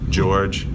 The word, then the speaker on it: Georges: The S is silent, like Des Moines, so George.